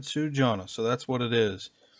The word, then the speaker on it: Sjana: I thought it was pronounced Sjana, but I asked their reps how to pronounce it, and they said Sjana, so that's what it is.